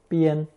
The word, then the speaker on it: 边: With the addition of the movement radical chòu on the left, this new character, still pronounced first tone bian, meant to approach the edge of a cliff, and now simply means the edge, side, limit, or border of anything.